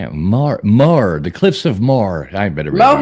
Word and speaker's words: Moher: The Cliffs of Moher. I better be able to get that one Mohair.